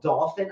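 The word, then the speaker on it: Dauphin: Yeah, and so we live on this little island called Dolphin Island, not like the fish. It's spelled D as in Delta, D-A-U-P-H-I-N. So D-A-U-P-H-I-N, Dolphin, separate word, island, Alabama.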